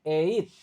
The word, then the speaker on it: ate: Dan ingat cara bacanya ini tulisannya at cara bacanya eit.